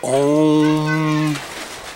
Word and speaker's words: Om: And it's like a mantra, like you say it like Om.